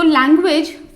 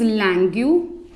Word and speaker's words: langue: First one इज लैंग्यू। कई जगह पर आपको इसकी प्रोनाउंसिएशन लॉन्ग भी मिल सकती है, लैंग भी मिल सकती है, और हम इसे लैंग्यू भी बोल सकते हैं। तो तीनों ही करेक्ट हैं।